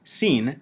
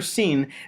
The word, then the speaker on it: sin: For our purposes, the letter Sin may be read like the letter S in English, or like the Hebrew letter Samekh, though originally Sin would have been pronounced like a lateral lisp.